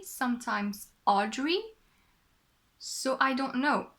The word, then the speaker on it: Audrey: I should tell you I have no clue how to properly pronounce my name in English because we pronounce it very differently in French in French we say